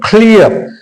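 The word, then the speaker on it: clear: क्या पढ़ा इसको क्लियर क्लियर जब भी आर किसी शब्द के अंत में आता है तो उस आर का उच्चारण नहीं किया जाता है याद रखना है तो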